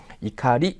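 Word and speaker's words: 怒り: 마스 형으로 가게 되면 이카리 아고 해서 분노라는 뜻입니다 이때는 오코리고 읽지 않습니다 그죠 분노라는 명사로 사용될 때는 이카리고 읽어 주시면 되겠습니다 자 정답 2번이 다음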